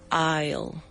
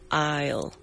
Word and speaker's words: aisle: Aisle. Aisle. And uh let me spell this word for you. A I S L E. Yes, and the S is silent.